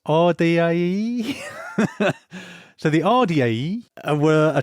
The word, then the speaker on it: Ardiaei: It's spelt Ardiaei. And I think it's Ardiaei.